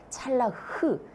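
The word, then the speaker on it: צלח: 이 형통이라고 하는 말을 먼저 보면 원어에서 찰라흐, 히브리 발음은 끝에가 이렇게 흑 가려뱉는 것처럼 마치 이 찰라흐 이런 거죠.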